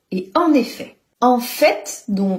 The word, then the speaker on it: en effet: pas disponible demain et en effet le t à la fin ne se prononce pas on l'utilise lui pour